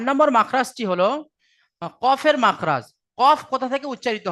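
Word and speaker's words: ق: বারাবার উপরের তালু, বলছে জিভের গড়া এবং তার বারাবার উপরের তালুর সাথে লাগিয়ে উচ্চারিত হয় কফ।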